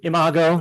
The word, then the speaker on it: Imago: for the uh How do I pronounce it? Imago butterfly project.